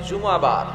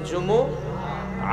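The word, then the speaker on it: جمعة: বলে ফেলে জুমা জুমা আসলে আরবিতে শুদ্ধ উচ্চারণটা হচ্ছে জুমু আহ আহ সূরাতুল জুমু আহ আহ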